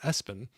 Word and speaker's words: ESPN: Well, yeah, it was like after ESPN, the sports network, but they would pronounce it Espen.